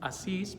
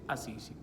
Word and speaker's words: Assisi: Italia llamado precisamente Assisi, se dice en italiano. En español nosotros decimos Asís, pero en italiano se dice Assisi.